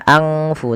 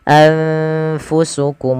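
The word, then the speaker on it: أَنْفُسَكُمْ: Cara membacanya adalah nunnya disamarkan kepada fa. Anfa, anfu, anfu, bukan angfu tapi anfusukum mustakbartum. Langsung kepada huruf fa-nya.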